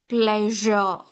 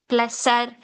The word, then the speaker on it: pleasure: See, here S is given. I'm not pronouncing it as messer, pleasser, wissen, tressa. No, it's wrong. Sa. It's not sa sound. It's not sa sound at all. It is measure, sound. Measure. It's not messer.